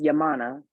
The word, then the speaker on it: Yaminah: So my name is Yaminah.